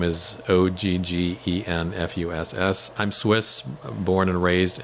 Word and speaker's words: Oggenfuss: Yeah, so first name is, last name is Oggenfuss.